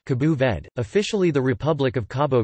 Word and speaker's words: Cabo Verde: Cape Verde, listen, or Cabo Verde, listen, Portuguese, Cabo Verde, pronounced Cabo Verde, officially the Republic of Cabo Verde, is an